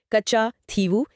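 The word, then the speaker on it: Kachchatheevu: Pronounce it slowly. Kachathevu.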